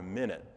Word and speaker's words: minute: not even for a minute. Yeah, Right. and the min is the emphasis, is the syllable. It's emphasized. Right. And then it's the higher note.